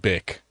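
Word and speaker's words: Bich: Bitch. that is the most awesome fucking name ever. It's actually pronounced Bick.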